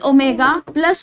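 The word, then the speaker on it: omega: दिखे रहा है वो उसको हम क्या प्रोनाउंस करते हैं ओमेगा प्रोनाउंस करते हैं आईएफ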